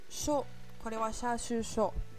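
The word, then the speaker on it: しょ: Là, il faut faire attention, il y a une petite exception. C'est bien shi plus un petit ya, petit yu, petit yo. Mais il n'y aura pas de y prononcé. Ça va nous faire sha, shu, sho. Et pas shia, shu ou shio.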